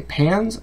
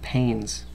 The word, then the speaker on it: panes: Did it say pans or pains? Remember what that silent E does, okay? So did the note say, fix the window pans or fix the window panes? You tell me.